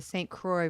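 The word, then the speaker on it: St. Croix: is the accurate pronunciation to how it was pronounced at the time. Like the Squa River is the St. Croy River in the US, which is like really cool.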